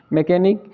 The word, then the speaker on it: मैकेनिक: मैकेनिक है, एम ई सी एच ए एन आई सी, मैकेनिक।